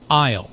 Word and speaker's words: aisle: I'll. Notice the silent S in I'll.